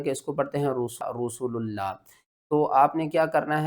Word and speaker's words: رسول اللہ: میں رکھنی ہے کہ لفظ اللہ سے پہلے جب بھی پیش ہوگی تو ہم لفظ اللہ کو موٹا کر کے پڑھیں گے۔ ہجے کس طرح کریں گے؟